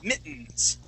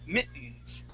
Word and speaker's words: mittens: those are mittens okay you can also pronounce them like this you instead of saying mittens in pronouncing the t's okay you can say mittens all right and so we it's kind of like saying Britain okay we go right to that n Sound mittens all right that is